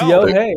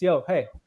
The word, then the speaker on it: Yohei: It's Yo Hey. Hey. That's how I explain how to pronounce my name whenever people ask. They're like, "How do you pronounce it?" I'm like, it's Yo Hey.